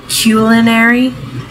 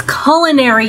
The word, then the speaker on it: culinary: You You just pronounced it culinary. It's culinary, you morons.